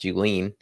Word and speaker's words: Julian: One fun fact about me is that my last name is actually pronounced Julian.